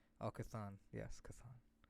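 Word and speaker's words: Chthon: out how to pronounce his name how we pronounce his name oh cathan yes cathan kathan um but in that scene she mentions patro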